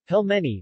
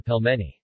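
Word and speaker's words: пельмени: pelmeni Russian pronunciation PLM n Russian pelmeni plural Pellman russian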